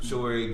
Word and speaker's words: Sowore: Nobody can pronounce it. That's fine. But I think it's Sowore though.